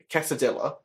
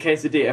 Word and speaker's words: quesadilla: No, I'm just saying that's the reason why tortilla and quesadilla are pronounced the way they are. That's the reason why. It's because they're in the Spanish language, and in the Spanish language, that's the rule.